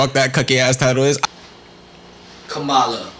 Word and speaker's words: Kamala: cookie ass title is kamala rhymes with yamaya which was the princess